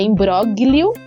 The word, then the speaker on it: imbróglio: Isso, só que ela tem um Gzinho mudo aí. Então, é I-M-B-R-O, com acento agudo, né? G-L-I-O. Então, é imbróglio, mas a gente pronuncia imbróglio.